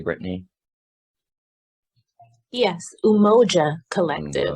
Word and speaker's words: Umoja: Was I pronouncing that correctly, Brittany? Yes, Umoja Collective, Umoja.